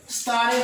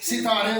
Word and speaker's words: ستارے: لفظ شمار ہوتا ہے۔ ستارے پڑھتے ہیں، اصل میں لفظ ستارے ہوتا ہے، سین کے نیچے زیر آئے گا۔ مناسب پڑھتے ہیں جبکہ